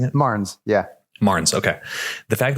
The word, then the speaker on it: Marnes: Is that how we're pronouncing it? Marnes, yeah.